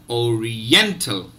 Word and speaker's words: oriental: So let me repeat the syllables. Syllable 1, O. Syllable 2, Re. Syllable 3, N. And syllable 4, Tell.